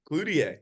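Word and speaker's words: Cloutier: that what you're saying why you saying CL like that cluder cuz that's how you say it it's not he's French is like French Canadian yeah I don't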